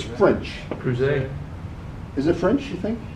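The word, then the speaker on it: Crouzet: I will show you by doing, because I can't pronounce the name. I say Corzite, but I don't think that's it. Come on, machine. It's spelled there it is. It's spelled C-R-O-U-Z-E-T. I think it's French. Creuset.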